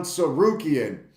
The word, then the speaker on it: Tsarukyan: Arman Tsarukyan because somebody commented on how to pronounce his last name, Arman Tsarukyan.